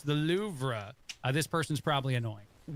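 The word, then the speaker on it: Louvre: And then finally, the louv uh is something that people say wrong because it's actually pronounced loura, but anybody who's ever said the louvra to you in a conversation, you want a slap for being pompous.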